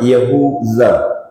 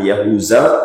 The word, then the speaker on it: Yahudza: salah seorang yang bernama yahudza namanya itu yahudza pakai Za ketek BR bukan Zai gadang ya bukan yahuza tapi yahudza nah orang ketika susah